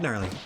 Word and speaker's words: Gnarly: And all 3 words, that is, starting with a silent letter, in honor of the founder, me, Gnarly, the Silent G.